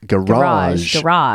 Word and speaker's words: garage: exactly G garage but you say garage stress on the second syllable uh next thing is